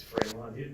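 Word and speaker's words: Frémont: There's a question about how to pronounce his name. It's Fremont.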